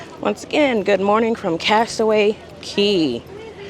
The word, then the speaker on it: Castaway Cay: Once again, good morning from Castaway Key. Spelled like K, but it's key.